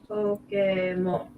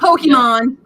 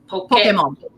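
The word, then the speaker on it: Pokémon: So how does one say Pokemon? Pokemon. Not Pokemon. Pokemon. Like okay. A Pokeball. Pokemon.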